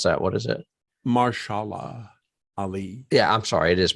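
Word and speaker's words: Mahershala Ali: I was gonna say yeah Jennifer Connelly and maisha's character would be I mean they were the ones that are happy I'm sorry did I mispronounce that what is it martial law Ali yeah I'm sorry it is martial law the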